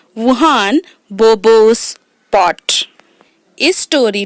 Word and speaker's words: Juan: यहाँ पर वुहान की जो स्पेलिंग है बेटा वो JUAN है ना। तो लेकिन उसे वुहान प्रोनाउंस करेंगे। ओके।